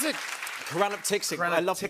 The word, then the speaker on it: choranaptyxic: How do you pronounce it? Koranaptixik. I love that you Koranaptixik.